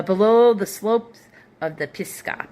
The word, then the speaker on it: Pisgah: Uh below the slopes of the Pisgah, p i s g a h a not g p i s g a h.